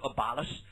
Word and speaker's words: abolish: 他强调要 to abolish the slavery，废除什么？